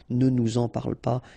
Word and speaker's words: ne nous en parle pas: Okay, sorry for the examples, but I tend to not to make the liaison when I make these little examples, just because I think it's more clear not to make the liaison, okay? But then, of course, parle-nous-en, ne nous en parle pas should be the way you should pronounce them, okay?